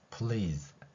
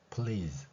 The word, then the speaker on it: please: please, please 이 소리죠. 여기에서도 S가 Z 발음이 나니까 이렇게 세모 모양의 글자를 나타내서 표기하고 있는 것입니다.